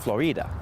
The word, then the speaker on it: Florida: go ponce de leon he would have pronounced it florida not florida because in spanish when a word ends in a vowel you emphasize the vowel before that oh gotcha glad we